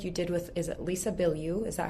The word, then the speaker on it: Lisa Bilyeu: I was actually listening to and shared because it was such a good episode you did with, is it Lisa Bilyeu?